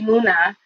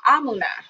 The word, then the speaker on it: Emuna: Is Emuna. And also Amuna. Ah, there it is. Good. It's another way to say Emuna, it.